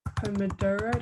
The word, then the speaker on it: Pomodoro: minutes break but there is something called the pomodoro that's how you pronounce it technique um where you work for